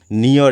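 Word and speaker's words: ne'er: তাহলে এখানে স্পেলিংটা হবে, এখানে উচ্চারণটা হবে, স্পেলিং বলছি, উচ্চারণটা হবে এখানে নিয়র, কিন্তু আমরা বুঝবো হচ্ছে নেভার।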